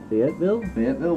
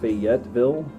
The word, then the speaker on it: Fayetteville: Fayetteville, West Virginia.